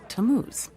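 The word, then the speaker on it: Tammuz: It's pronounced Tamuz.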